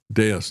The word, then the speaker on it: Deus: Did I say deuce? I'm not having a good day today either. Um, yeah, Deos, not Zeus.